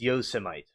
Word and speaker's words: Yosemite: It's Yosemite.